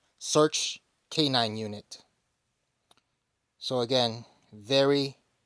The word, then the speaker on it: SRCH: with his pet dog AKA search and that's spelled s-r-c-h search K9 unit so again